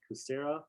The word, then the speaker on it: Kucera: and haley how do you say that coursera kucera k-u-c-e-r-a that's district 12.